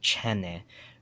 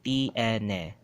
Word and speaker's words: tiene: They say chene, right? It's three syllables, tiene, tiene, right? Tiene, but they'll say chene. They'll just make it as one or two syllables instead of three. They'll shorten it, tiene, instead of, they'll say chene instead of tiene.